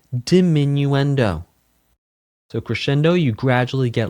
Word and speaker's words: diminuendo: Dominuendo is dimminuendo. Dimminuendo dimminuendo crescendo. It's technically to corre It is technically correct to pronounce multiples of crescendo as crescendi and multiples of diminuendo as diminuendi.